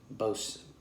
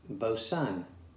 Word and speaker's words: Boatswain: a tangy hop bitterness bose boson yeah the w is silent and the ai is just kind of lost within there but uh what else